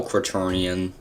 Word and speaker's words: quaternion: I know it's quarter neon, I guess. But neon is spelled with an I instead of an E. That's actually not quarter. That'd be... It's like quater. Quaternion. That's actually how you pronounce it, kind of.